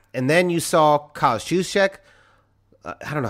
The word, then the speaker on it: Juszczyk: It's just like drop the J. Like it's sort of a soft J. Just use it as a Y. Juszczyk?